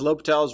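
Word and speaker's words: L'Hôpital: doesn't change the fact that French name uh we keep that little less silent lal's rule okay so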